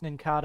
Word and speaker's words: Nincada: Nincada, I think it's pronounced. Nincada like cicada.